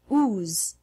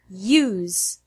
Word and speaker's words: use: beyond Canyon human music the words use unit uniform human and music are interesting because there's no y in the written form but the pronunciation includes an invisible Y sound before the U for example don't pronounce it who's the correct way is use don't pronounce it music